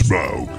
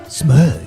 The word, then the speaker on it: Smaug: Rhymes with Grug. It's Smaug. Smug.